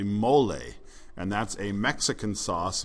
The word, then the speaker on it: mole: okay mole can actually if you pronounce it in Spanish is actually mole and that's a Mexican